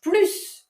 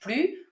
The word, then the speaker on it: plus: And you do pronounce the final S. However, in a negative sentence, you would say je ne mange plus with, very important, a mute S.